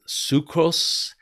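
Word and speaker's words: ψυχρός: for that word cold and it is uh sucrose and that's how you pronounce it and it means chili sluggish inert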